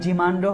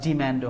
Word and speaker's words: demand: আরেকটা বিষয়, এই পোজ মানে হচ্ছে কোনো সমস্যা সৃষ্টি করা, আর এই যে ডিম্যান্ড, এটার উচ্চারণ দুটাই হয়, ডিমান্ডও হয় আবার ডিম্যান্ডও হয়। ডিম্যান্ড হচ্ছে আমেরিকান উচ্চারণ।